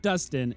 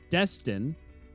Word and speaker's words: Destin: It's not Dustin. It's Destin Destin.